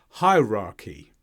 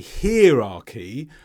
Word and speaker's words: hierarchy: into a high position so be careful with the start and the end of this word uh some people may be tempted to say hierarchy or perhaps hierarchy here the CH is